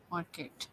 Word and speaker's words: Marquet: d l david marquette and the last name is spelled m-a-r-q-u-e-t okay market okay fine and any podcast do you want